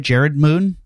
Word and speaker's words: Jerred Moon: i pronouncing it right Jared moon that's correct it's a it's a different spelling though right yeah it is and